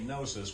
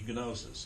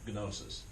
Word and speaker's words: gnosis: enough we would say nosis we usually don't in English pronounce the G and the N together together but in Greek you can it' be gnosis in Greek that's how